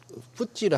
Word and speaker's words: FTSE: 아까 저 푸찌를 하신 게 FTSE를 그렇게 네네네네. 그 지수사 이름이고요. 그 파이낸스 타임스 네, 맞습니다. 스탁 익스체인지 할 때 네. 그 뭐라고 발음하셨어요? 푸찌라고 뿌찌.